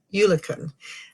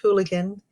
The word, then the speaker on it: Eulachon: and hooligan runs or you lookin locally it gets pronounced hooligan rather than you lookin here it's the D